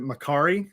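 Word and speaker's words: Mercari: um i know there's one i might even mispronounce it makari is that right that's correct okay what is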